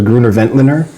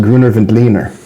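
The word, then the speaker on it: Grüner Veltliner: I always thought it was Gruner Ventliner. It's pronounced Gruner Ventleer.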